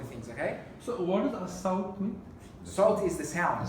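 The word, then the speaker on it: الصوت: If it has a shadda, then we don't pronounce the lam. Ah. Easy rule. So this has a shadda, so we say as-sawt. Okay? We don't say al-sawt.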